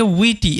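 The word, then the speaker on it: witty: এখানে তোমরা একটা জিনিস খেয়াল করো, ডাব্লুর পরে আয় আছে, যার কারণে কিন্তু ডাব্লুর যে উচ্চারণ সেটা উইয়ের মতো হচ্ছে, ঠিক আছে? ওই কারণে এটাকে উইটি এরকমভাবে পড়ছি।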